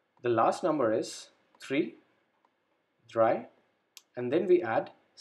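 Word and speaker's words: drei: number three try again we have the same thing here e i at the end e i is pronounced as i dry number three number four fear v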